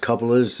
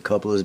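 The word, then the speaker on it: Kauppila: I believe it's pronounced Coupolas. It's K-A-U-P-P-I-L-A. I believe it's pronounced the Coupolas.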